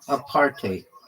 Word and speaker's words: apartheid: It's pronounced a partate or a partate with a bit of a Dutch style hide at the end like height with a D.